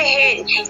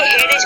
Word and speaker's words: hedge: हेज, ठीक है, यहाँ पे क्या पढ़ेंगे, हेज, ऐसा नहीं कि हेडेज पढ़ेंगे। यहाँ पे लिखा गया HEDGE, ठीक है, तो जी से पहले आपका डी आया है, तो हम डी को क्या करेंगे, प्रोनाउंसिएशन नहीं करेंगे, इसको हम नहीं पढ़ते हैं, और डी हमारा क्या होता है, साइलेंट होता है, इसीलिए हम क्या उसको बोलेंगे, हेज बोलेंगे। उसके बाद देते हैं फोर्थ